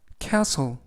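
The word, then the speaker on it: castle: 수행해 냈어라는 뜻이 되겠습니다 이번 표현은 cle cle cle이라고 발음하시면 되겠고요 이때 유의하실 점은 알파벳 t 무음이라 발음이 되지 않습니다 그래서 캐슬이라고 발음하시면 되겠고요 품사는 명사 뜻은 성이라는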